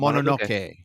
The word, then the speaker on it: Mononoke: You actually pronounced it correctly. It's Mononoke.